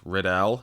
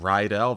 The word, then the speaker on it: Riddell: Speaking of which, I mispronounced Chris Riddell's name in the filmed portion: it is “Rih-dell” not “rye-dell”, that's the high school from Grease.